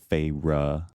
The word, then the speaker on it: Feyre: Feyre. So now that's how I read it every single time. Well, that's how it's pronounced.